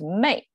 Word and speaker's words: 昧: And then the right side is pronounced by itself, wei. But combined together with the sun, it becomes mei.